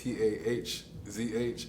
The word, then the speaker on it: Taj: It's my name pronounced, so it's TAHZH NYC on Twitch, TikTok, Instagram.